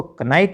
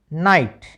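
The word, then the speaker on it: knight: कनेप नहीं पढ़ना नेप के एन आई जी एस टी को कनाइट नहीं पढ़ना नाइट के एन डबल ई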